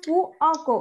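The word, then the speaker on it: fuoco: আস্তে করে উচ্চারণ করবেন আপনারা ফুকো বলছেন সবাই এখানে হবে ফু অক ওই যে অটা আছে মাঝখানে ওটা কিন্তু আপনারা ভুলে যাচ্ছেন ফু অক এবার হয়েছে আমি কি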